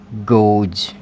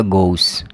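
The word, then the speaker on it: goes: एस है इसका pronunciation, sorry यहाँ गोज, सॉरी गलत लिख दिया मैंने यहाँ पर ज आएगा, गोज, गोज। अगर आपने से ऐसे लिख दिया, ठीक है, तो ये क्या हो जाएगा? गोस।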